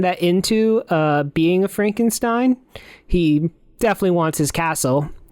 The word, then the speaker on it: Frankenstein: Frankenstein. Frankenstein. You're putting me on? No, it's pronounced Frankenstein.